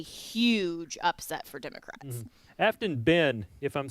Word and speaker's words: Aftyn: Yes, Afton. I didn't go there because I didn't have any idea how to pronounce it.